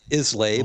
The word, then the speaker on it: Islay: Everybody will call it Islay, but it's that's Islay. fine. Yeah. Nobody else will know how to pronounce it unless they're from Scotland or have been to Scotland.